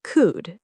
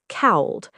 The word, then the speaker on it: could: Well, um, could is pronounced like could, not cowled. The L is silent, right?